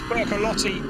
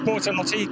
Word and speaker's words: Bortolotti: He will be attempting to catch Bertolotti snoozing. And Mirko Bortolotti, good pronunciation, in 2nd place, does just that because Ricardo Feller has got the jump on Mirko Bortolotti in P2.